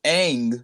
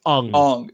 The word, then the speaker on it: Aang: decides to call the character wrong instead of egg which is how it's pronounced a nutshell yes it's spelt Aang but in the movie he says along it's like what why would you do so